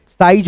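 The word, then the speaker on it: size: लेकिन यहां पे दोस्तों जो है ना ई साइलेंट है। साइज हो गया।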